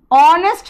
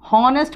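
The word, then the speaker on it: honest: ऑनेस्ट मैन, एच से शुरू हो रहा है लेकिन प्रोनाउंसिएशन सुनो बेटा। हॉनेस्ट बोलोगे तो मैं कुछ नहीं कर सकती तुम लोग का।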